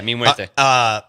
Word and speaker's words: Mi Muerte: Mi Morte. Yeah. Did I say it right? Yeah, Mi Muerte.